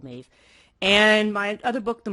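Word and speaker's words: Medb: And it's pronounced Maeve because it's an Irish name. Not about the Irish goddess, by the way, but it is called Maeve.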